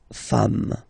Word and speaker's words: femmes: and as we said, you don't pronounce it, so you get des femmes.